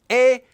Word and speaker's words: 의: So in this lesson we learned about the particle 의, as well as how it's pronounced as 에, and how to use it.